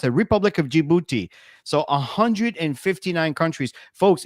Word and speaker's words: Djibouti: It's pronounced it republic of Djibouti.